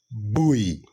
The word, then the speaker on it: buoy: understand those kind of uh matters the correct pronunciation of this words is buoy buo all right buoy sixth how do you